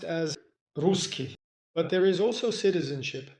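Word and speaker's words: русский: In Russian this is pronounced as Ruski.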